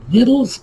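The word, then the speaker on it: victuals: as a little hint just imagine granny clampett from the beverly hillbillies and her red kill possum stew that should tell you how to pronounce this word that's right littles is on the table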